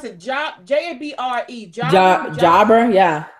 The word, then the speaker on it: Jabra: How do you pronounce it? J-A-B-R-E. Jabra, yeah. Jabra.